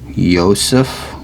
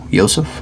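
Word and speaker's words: יוסף: story of joseph or if you're trying to read it in hebrew it's actually pronounced yosef yosef i think i don't know y-o-s-e with a little thing above right ph so there is no j word in hebrew no j sound or letter i don't think but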